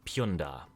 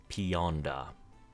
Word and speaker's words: Punda: the city state of Punda or or as foreigners would call it Ponda it's pronounced Punda in their native tongue though Punda is the island